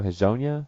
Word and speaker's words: Hezonja: But like what was it, Mario Hezonja?